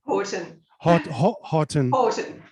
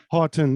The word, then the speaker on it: Houghton: um and because because she's from australia there are certain ways to pronounce her last name pronounce your last name for me christine orton horton yes yes americans can't say it that's it that's it